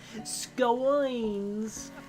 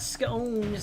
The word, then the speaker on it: scones: March Hare informs me that the educated circle scones rhymes with bones like scones. Not scones like I've been saying.